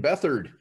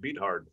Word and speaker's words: Beathard: CJ Beathard, San Francisco 49er.